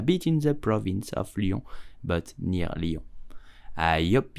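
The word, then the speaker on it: Lyon: it in French correctly you will say Leo yeah Leo please do not pronounce it Leon it's totally wrong Leo did you know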